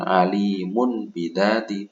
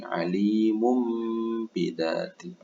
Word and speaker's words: alimum bidati: Bukan alimun bidati, tapi alimum bidati.